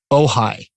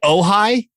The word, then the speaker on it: Ojai: And people from back east called OJ. Wow. Like, I heard OJ was really, really cool. I'm like, you mean you going on a tour of Brentwood and the OJ compound? I'm like, no, OJ. I'm like, do you mean Ojai?